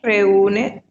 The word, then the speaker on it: reúne: R no início a pronúncia vai ser como uma J.